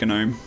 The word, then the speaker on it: GNOME: I pronounce it GNOME. Like GNU.